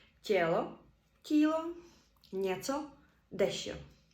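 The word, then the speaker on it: tělo: не стоїть після дтн відбувається пом'якшення читаємо це як детене і приклади деті діти тело тіло цо дещо і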